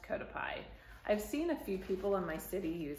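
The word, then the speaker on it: Cotopaxi: pie the brand name is it looks like Coto paxi but it's pronounced kotap pie I've seen a few people in my city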